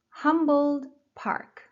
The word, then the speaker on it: Humboldt Park: Humboldt Park. Humboldt Park. Humboldt, first syllable.